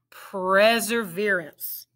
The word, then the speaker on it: perseverance: pray sir veer ants pray sir veer ants let's blend it pray sir perseverance how many syllables does perseverance have four very good if you said four